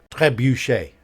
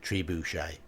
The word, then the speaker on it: trebuchet: star isden all right Tre Boucher trebuchet French ie not tribushai okay just picking up a